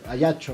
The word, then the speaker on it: Ajaccio: Sí, porque se va a Ajaccio. Al- al- Ajá. Ayacho, bueno, ¿verdad? Como se pronuncia.